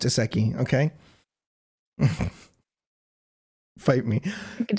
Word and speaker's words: isekai: For the commenters, it is pronounced isekai.